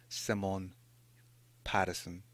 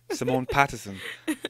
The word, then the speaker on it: Simone Patterson: Her name is Simone Patterson. I said it right. Yes. Simone Patterson.